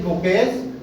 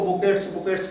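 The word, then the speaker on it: bouquets: Kindly present these बुकेज टू हर on behalf of मी। कुछ लोग इसको बुकेट्स करते रहते हैं, नहीं, प्रोनाउंसिएशन में बुके बोले जाते हैं।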